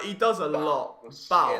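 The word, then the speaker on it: Bou: Oh, it's another man, but Bo, isn't it? All right, how do you pronounce his name? Is it Bo or Bao? Because I know he's very good. Like, he does a lot. Bao.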